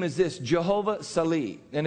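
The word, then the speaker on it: Sel'i: And today's name is this, Jehovah Sali. And it's spelled in English, S-E-L with an, what is that?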